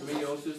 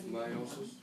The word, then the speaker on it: meiosis: And Mrs. King says meiosis, but that's not how you say it. It's meiosis Meiosis what?